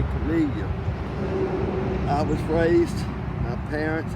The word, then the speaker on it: Camellia: He gave everything a Latin name, all the plants, and he named them for a Jesuit medical missionary named Joseph Camel.